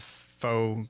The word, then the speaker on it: faux: and balanced kind of faux coverage. Faux is spelled F-A-U-X. That sounds like Fox.